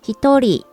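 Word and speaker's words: 一人: exceptions to the rules one person there it is in country and it's pronounced he thorry to people in kanji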